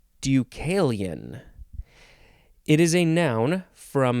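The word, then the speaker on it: Deucalion: for that matter the next word this is ducalian ducalian it is spelled capital d e u c a l i o n ducalian it is a noun from 1565.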